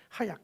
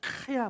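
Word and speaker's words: חיה: 하야, 카야 뭐 이렇게 발음을 하는데요.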